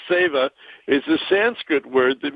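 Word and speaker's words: Seva: about this benefit sa spelled Seeva but it's pronounced SAA is a Sanskrit word that means service to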